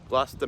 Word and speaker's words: Gloucester: think we're going out to dinner first in Gloucester gler Mass um I'll put on the screen how it's spelled but it's pronounced GLA um so yeah